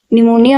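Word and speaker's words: pneumonia: अब निमोनिया में क्या रहता है? इसमें आपको पे दे दे रखा होता है पहले बट वो साइलेंट होता है।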